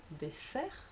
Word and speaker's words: dessert: Second case was in between two vowels, and here you have rose, so Z, or grosse, S, désert, dessert. And thirdly, in all other positions, then you do say S, quite simply.